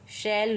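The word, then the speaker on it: shall: पर एक अपवाद है एस एच ए एल एल शैल व शैल व इसे हम पढ़ेंगे जिसका मतलब भी होगा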